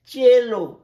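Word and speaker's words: cello: দেখো ও সি ই এন, সি এর উচ্চারণ তাহলে বসো এখানে, আবার বলেছিলাম সি এর উচ্চারণ চ, চ হয় বলেছিলাম, মনে আছে প্রথম দিকে সি ই এল এল ও, চেলো, সি ই এল এল ও, চেলো, এক ধরনের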